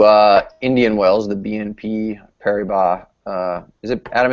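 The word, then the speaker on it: Paribas: Indian Welles the BNP Perry BBA uh is it Adam is it Perry b or Perry boss Perry B open I think per don't pronounce the S uh we'll be there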